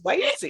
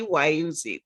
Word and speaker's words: Wayuzi: There it is, Wayuzi. Yeah. And you sort of. Oh, that comes from wait, you'll see. Wait, you'll see, Wayuzi.